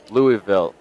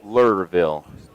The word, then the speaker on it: Louisville: or I are about to be smacked for pronouncing L lville wrong Louisville yeah Louisville Louisville it's not e louville louville and with that southern draw it's lville well then how do they feel about just